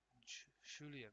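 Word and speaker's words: Julián: you'll hear it more like a sham like Julian a good time and Julian Julian it's a luxurian PK Javi you're coming up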